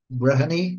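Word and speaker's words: Breheny: Branny b r e h e n y brehani That's not how you spell it you can see very strongly um Gaelic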